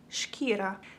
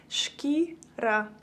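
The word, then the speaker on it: шкіра: So if you want to say skin in Ukrainian, you would say it like shkira, shkira.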